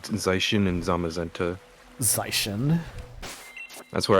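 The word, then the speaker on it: Zacian: Yeah, but in the like one of the first trailers for Sword and Shield, they literally said Zashin and Zamaenta. Zishin. That's where I get my pronunciation from the official Pokemon channel.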